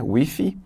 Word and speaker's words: with: With. A pronúncia não está correta. A pronúncia correta é with. Né? With, tipo um sonzinho de Z no final, né?